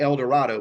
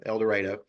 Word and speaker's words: El Dorado: It's pronounced, or it looks like El Dorado, but it's pronounced like tornado, El Dorado.